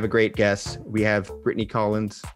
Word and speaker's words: Brittany Collens: and i have a great guess we have brittany collins correct that is the correct pronunciation yes thank you brittany so you are